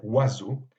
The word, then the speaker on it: oiseau: Le Z, évidemment, c'est l'expression de la liaison, mais le mot en soi, c'est oiseau, dans lequel aucune lettre dans l'écriture phonétique ne correspond à une lettre écrite dans la graphie que nous connaissons.